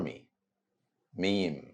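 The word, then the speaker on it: ميم: which is letter M same letter M sound in the English word make repeat after me meme M moving to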